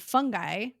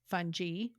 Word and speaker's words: fungi: Essentially, we all have bacteria that and and fungi fungi. I don't know. Depends on who you are and how you want to pronounce it. I've heard it pronounced both ways, but basically fungus and